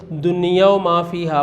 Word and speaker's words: دنیا و ما فیہا: دنیا و ما فیہا یہ بہت سارے بچے اس کا غلط تلفظ کرتے ہیں، دنیا و ما فیہا۔ ما فیہا لفظ عربی کا ہے، دنیا واو اور ما جو کچھ فیہا اس میں ہے، دنیا اور جو کچھ اس میں ہے۔ یہ ایک بڑا پیارا